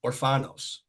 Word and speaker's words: Orfanos: Orfanos.